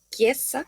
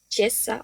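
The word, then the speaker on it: chiesa: Eh, seguimos con la ch en español ch, que en italiano se pronuncia como una k. En este caso tenemos la palabra iglesia, que sería quiesa, ¿no? Diríamos chesa o algo similar.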